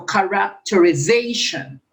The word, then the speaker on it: characterization: the word this one on which syllable is a primary stress place second third fourth fifth and sixth because the word has one two three four six um syllables so it's characterization characterization so it is accepted on the fifth syllable so characterization characterization okay